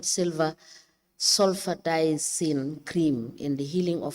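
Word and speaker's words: Sulfadiazine: We apply to tender the research proposal with the title, Effectiveness of Aloe Vera Fresh Leaf Compared with 1% Silver Sulfadazine.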